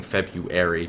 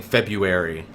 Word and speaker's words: February: at me for saying February because there's a fucking R in there that doesn't make any sense. Every adult raises their kid saying February, and then when you try to fucking spell it, you feel stupid.